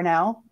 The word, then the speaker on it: Ronau: and last name reneau it's a very french name r-o-n-a-u sounds like the car but not spelled like